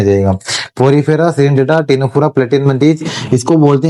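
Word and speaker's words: Ctenophora: बोलते हैं अपन क्या टीनोफोरा। इसको अपन क्या बोलते हैं? टीनोफोरा। इसको बोला जाता है टीनोफोरा। क्योंकि यहां पर भी पी क्या होता है? साइलेंट होता है।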